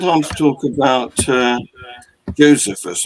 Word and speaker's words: Josephus: to talk about uh josephus or as you americans like to call it josephus you have a predilection for pronouncing the distressing the second syllable anyway he he said